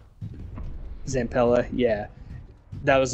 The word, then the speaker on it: Zampella: Zampella, yeah.